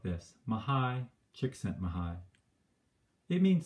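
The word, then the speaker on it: Mihaly: should have explained that his name is mahai chiksen mahai and you can remember it because you can break down his name sort of like this mahai chik sent maha it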